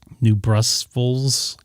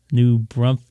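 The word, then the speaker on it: New Braunfels: know my San Antonio my cousins live in new Brussels I don't know how to pronounce it they said it got cooled off overnight Selma that's my mom's name new brunt yeah that's it they built a house there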